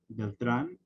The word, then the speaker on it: Beltran: my name in English, typically it'll be Beltran or Beltran or some variation of that. But I guess the actual pronunciation is Beltran, which a lot of people usually don't get on the first try.